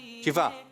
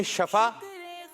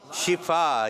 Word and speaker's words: شفا: شفا جی صحیح تلفظ ہے. جو لوگ کہتے ہیں شفا تو یہ تلفظ صحیح نہیں ہے. آپ نے کہنا ہے شفا, یہ تلفظ صحیح ہے.